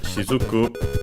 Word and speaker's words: しずく: last but not least the word sizuku should be I think unended but we check which means uh drop for example of water Okay. So, it wasn't unacented, but accented on the last one.